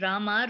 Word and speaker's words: Rama: The words Hare, pronounced Hare, Krishna, pronounced Krishna, and Rama rhymes with drama, are Sanskrit words.